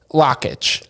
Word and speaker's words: Lakich: Lakich.